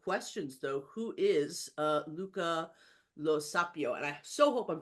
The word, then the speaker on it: Luca Lo Sapio: most basic of questions though who is uh Luca Lo saio and I so hope I'm pronouncing your name correctly yes yes yes the